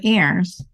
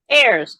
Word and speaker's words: Ayers: I should have asked if you pronounce it Ayers or Ires so say hello so I know how to pronounce your name thank you so much for having me Peggy it's Ayers Ayers okay now I can